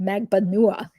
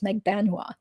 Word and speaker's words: Magbanua: my filipino-american relative says the correct way to pronounce it is in fact magbanua which is the way that rashbaum pronounced it so he was trying to pronounce it the correct Filipino way but then on the other hand when I listened to the trial Tara kawas was pronouncing Katie's last name the way that pretty much everybody else pronounces it which is Meg banua so so I kind